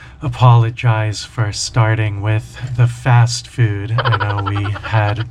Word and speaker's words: pho: pho, pho soup, and that's spelled p h o, but it's not pronounced foe, it's pronounced fa.